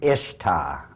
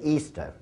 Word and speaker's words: Ishtar: Now, a lot of people think it's pronounced Ishtar, I-S-H-T-A-R. People check the Babylonian Talmud. Once again, it is properly pronounced to this very day, Easter.